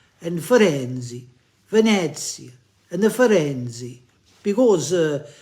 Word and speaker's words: Firenze: No, John, it's Venezia and Firenze.